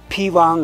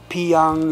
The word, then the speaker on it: Phyang: did that come about like p or g it depends on how you pronounce it that means outside and wang is power so or you can pronounce it together like chivang or pivang or pyong you know it depends so we are at